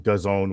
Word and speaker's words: DAZN: And then Mauricio Lara versus Lee Wood on DAZN, which rhymes with calzone.